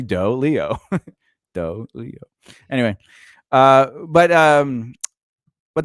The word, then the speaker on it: doleo: the leo wrong but how does it spell dolio leo d-o-l-e-o it's literally doe leo anyway uh but um